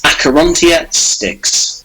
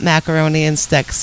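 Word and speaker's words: Acherontia Styx: So could you give them the right pronunciation? Yeah, sure. It's Acherontia Sticks. All right, we got it now. It's not macaroni and sticks.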